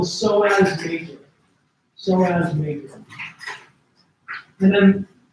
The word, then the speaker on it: psoas: So these other muscles, collectively called the iliopsoas, PS is a psoas, you don't pronounce a P.